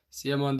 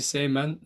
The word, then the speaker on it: Seymen: onu söyleyeyim Deniz e Seymen sian dedim ama ismi Seymen doğru telaffuzu oldukça güzel bir profili